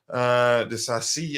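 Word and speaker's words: Disasi: Well, back three, Thiago Silva central to his right, Axel Desasi, Koa to his left, Desasi as it's pronounced.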